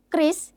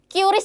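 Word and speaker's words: QRIS: Kalau Kris itu penyebutannya bukan curis ya, Teman-teman, tapi Kris.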